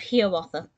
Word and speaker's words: Hiawatha: the disney short and they pronounced it little hero author so i'm going to try my best to pronounce it such throughout the rest of this but i do apologize if i do occasionally pronounce it hiawatha instead of hearwatha little herewatha is a